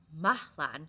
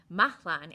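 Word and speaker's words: Mahlon: Um, they are pronounced Mahlan. There we go. Mahlan and Kilian.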